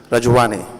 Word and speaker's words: Rajuani: I was just saying in the event I'm pronouncing the name wrongly, but Rajuani. Yes. Good.